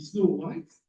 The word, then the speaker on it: Snow White: Alors, en anglais, ça se dit Snow White. Et je crois que les 2 syllabes sont accentuées de la même façon.